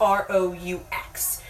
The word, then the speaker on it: roux: Also, when you're cooking like that and you're cooking with flour, it's also called a roux, and that's spelled like R-O-U-X. So, a roux.